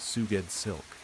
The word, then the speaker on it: Sgoueddslk: Sgoueddslk, pronounced Suged Silk.